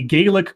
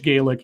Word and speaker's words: Gaelic: Scottish Gaelic is pronounced the same way as a Bostonian says garlic.